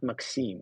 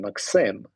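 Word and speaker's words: Maksym: for many years because especially russian-speaking people would automatically pronounce my name in Russian way which I really hated since I was like even a kid and I'm like no please I'm not Maxim I'm Maxim and this is like a very strong a there so please do not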